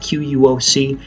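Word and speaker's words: Quốc: In Paris, he had the name Wen I Quoc. Now, again, you've got to know that the spellings of these names are very different than they sound. So Wen, N-G-U-Y-E-N, Wen, and Quoc, Q-U-O-C.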